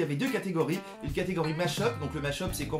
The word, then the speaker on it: mashup: Il y en a qui disent match-up, mais il me semble qu'on prononce plutôt mashup.